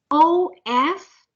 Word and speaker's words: of: I want you to see this o f of like a letter v o f f off